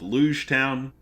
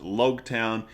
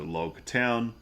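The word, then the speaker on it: Loguetown: In that the town is pronounced like prologue, so Logtown, and this whole East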